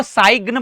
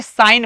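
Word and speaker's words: sign: तो क्या इसको सग्न पढ़ेंगे? सगन। यह क्या हो जाएगा? रॉन्ग क्योंकि यहां पर जी साइलेंट है, चुप है। तो अब इसे साइन पढ़ेंगे। जी साइलेंट हो जाएगा, चुप हो जाएगा। एस आई एन साइन बन जाएगा।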